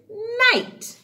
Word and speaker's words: night: We don't pronounce the G or the H, but they have to go in together to spell the word night or all these words.